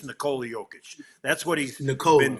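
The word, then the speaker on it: Nikola Jokić: for the NBA, they have the players speaking uh his name uh and he says Nicole Joic. So, I'm going to go with that.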